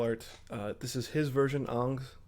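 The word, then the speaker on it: Ingres: Ang is how you pronounce his last name.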